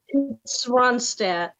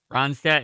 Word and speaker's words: Ronstadt: reinstad ronstadt excuse me so which singer was swanstat ronstadt is that your guess no no i'm just telling you how to pronounce the name don't run that singer